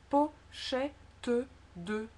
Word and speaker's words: pochette de: Si on ne le prononce pas, ça fait pochette de. Et souvent c'est en fait, je pense dans la réalité, on ne le prononcerait pas. Et le T et le D pratiquement deviennent une seule lettre. Donc ça serait presque pochette de. C'est une espèce de accentuation du TD de l'album.